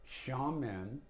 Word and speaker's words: Xiamen: for asia or shanghai xiamen it's spelled with an x to start with and that's like i